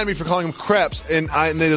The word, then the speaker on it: crepe: Yeah, and then everyone got mad at me for calling them crepes, and they're like, it's crepe. Like, no. Crepe, it would be spelled like grape. This is crepe, because in French you say crepe.